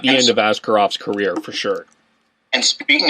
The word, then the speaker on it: Askarov: I was going to mispronounce the Russian goaltender. That's why I didn't use his name, but it's Askarov.